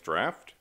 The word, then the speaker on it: draught: with this uh the classic Guinness draft and drought spelled like Stroud you know somehow in English these two words rhyme drought and stout but they shouldn't um the poems and